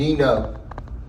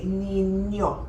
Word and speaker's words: niño: Nino. Well, when there's a tilde on the end, you say niño.